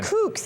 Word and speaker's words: pannenkoek: Yeah, some pannenkoeks, actually.